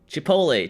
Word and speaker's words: Chipotle: Chipotle. Chipotle. Chipotle. Chipotle. Good. Like it's an American um restaurant. I have to pronounce it the correct way as Americans would.